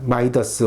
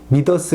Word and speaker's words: 마이더스: 손 이라는 신화가 있습니다 마이더스 혹은 믿어 스 라고 발음 되어 그 불려지는 인물은 풀이